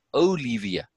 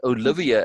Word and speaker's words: Olivia: She actually says her name as Olivia. She pronounces the I as an E. Yeah, not Olivia as most people say. For her, it's, you know, has connection to Spanish, and in Spanish it's Olivia, where they say it that way.